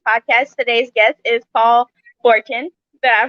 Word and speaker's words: Forchione: back to sheblab's podcast today's guest is paul forten that i pronounce it right you did so um can